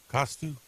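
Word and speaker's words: Cousteau: c o u s t e Au U costu cus custo really custo custo oh Yak custo yes what about it I'm just asking oh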